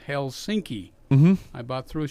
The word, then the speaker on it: Helsinki: la se yeah okay finish the accidents always on the first syllable okay every single word and every single name okay for example Dan Rather was on TV and he talked about Helsinki mmm-hmm I bought threw